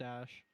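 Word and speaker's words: Æ: it ash is there or something it's pronounced ash yeah the ash is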